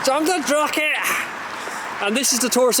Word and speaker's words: Drumnadrochit: So we're at the Drumnadrochit, which I pronounced wrong. Drumnadrochit. Drumnadrochit!